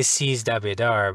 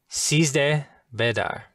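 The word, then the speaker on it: Sizdah Bedar: I always say Seize the Bedar, but... That was very close. So the first part is seize de. So it, okay. That's seize how I've been saying it wrong. Bedar. Seize de bedar. Yes. Seize de bedar. And seize de means 13.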